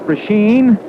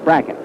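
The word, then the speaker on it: Brecheen: RW c h n a lot of folks call it prashen but he says that he and his family call it bracket that's good enough for us I think the first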